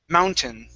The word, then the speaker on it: mountain: mountain okay now here instead of saying mountain okay it's you were only going to pronounce a short i sound okay it's mountain mountain mountain mountain okay very